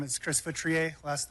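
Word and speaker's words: Feutrier: Hi, my name is Chris Futriier. last name is spelled F as in Frank, EU, T is in Tom, R I E R.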